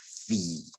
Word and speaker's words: 回: 第一个是那个杯子的杯是念鼻，好，回头的回是念 V，然后黄昏的黄要念 wang，然后别离的别要念撇。